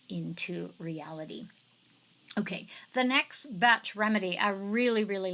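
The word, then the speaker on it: Bach: remedy collection or as some folks will say BOC remedy it's actually pronounced batch but you didn't know that anyways so the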